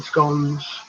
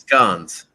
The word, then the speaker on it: scone: You may have cherries in scones. Okay, so that's scones. Yeah, scone or scone. It's different pronunciations.